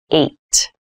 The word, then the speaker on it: eight: number h this has an interesting spelling it's pronounced eight eight is a lucky number eight is a